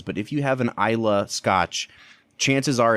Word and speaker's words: Islay: is what's called an ila whiskey it's it's spelled is la whaai but it's not is lait it's not Islay it's ila and that is a